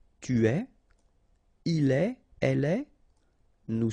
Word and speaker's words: tu es: Tu es, okay, so it's quite strange because you get this ES, but then phonetically it's est. Alright, quite open.